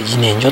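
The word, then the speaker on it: 自然薯: て書いて自然薯って読むんだけど、もう字のごとく自然の芋やね。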